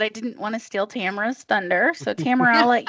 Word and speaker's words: Tamara: say, Tamara, like camera. Only different. Only different. That's how she'll get the 10 seconds. Tamara, not Tamara. I'm not. It's not today. It's not.